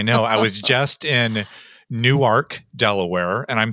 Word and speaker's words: Newark: I was just in Newark Delaware and I'm saying it correctly it's not Newark New Jersey it's new ark Delaware and we've been working with